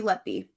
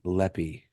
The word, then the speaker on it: Letby: Yeah, it's Lucy Letby. Lucy Leppy.